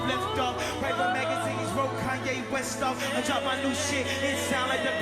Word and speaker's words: Kanye: All I need is y'all to pronounce my name. Kanye, but some of my blacks, they still say Kane.